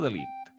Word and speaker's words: de Ligt: Sí, de Light o de Ligt? De Ligt, més que de Light.